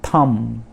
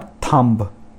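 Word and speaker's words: thumb: फिर उसके बाद थम। थम नॉट थंब, B साइलेंट है।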